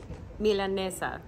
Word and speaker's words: milanesa: who to ask hey Alison how do I pronounce it milanesa one more time Mila that's how you doing